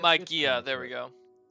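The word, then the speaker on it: μαγεία: Yeah, it's Magia, close, there we but go. Alright. It's a hard G.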